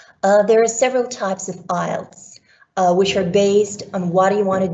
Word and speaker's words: IELTS: there in the english speaking world some people mispronounce it the right way to say it is ielts which stands for international english language testing system